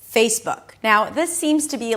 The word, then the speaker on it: Facebook: So add a little y sound at the end.